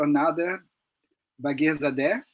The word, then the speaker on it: Nader Bagherzadeh: And well, let me introduce you, Professor Nader Bagherzadeh. Is it correct, Nader? Yes, perfect. Thank you. The pronunciation, I always find it very good.